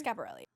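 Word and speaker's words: Schiaparelli: I'm pronouncing it right. Scaparelli. Scaparelli.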